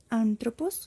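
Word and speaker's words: ἄνθρωπος: estas elevaciones y depresiones cada vez que tengamos un acento vamos a hacer una intensidad sobre esta vocal entonces vamos a pronunciar anthropos como en el acento agudo que hágase de o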